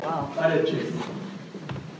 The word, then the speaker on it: Unichis: Unichis. Unichis. In our research, it says it's just the Pawnee pronunciation of oranges, plural.